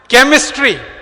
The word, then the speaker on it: chemistry: एक और उदाहरण देता हूं, केमिस्ट्री, क्या स्पेलिंग है?